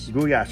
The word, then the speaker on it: Gulyás: So how do you say it the right way? Gulyás.